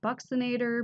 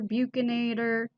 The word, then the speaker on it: buccinator: Heard that buccinator, buccinator. I like buccinator because it reminds me of the Baconator sandwich at Wendy's.